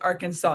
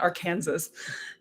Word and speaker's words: Arkansas: what and they go they could pronounce it Arkansas not our Kansas and Lucy was just